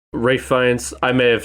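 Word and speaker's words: Ralph Fiennes: his name wrong guys isn't it ray finds not ralph ray france i may have said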